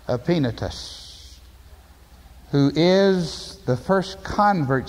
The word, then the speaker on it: Epaenetus: The Greek, Epaenetos. But in the English, Epaenetus.